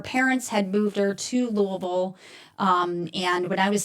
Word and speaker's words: Louisville: It is called the Judgmental Podcast with attorney Christine Miller and attorney Hugh Burrow from Louisville or I should Louisville is the proper way to pronounce it.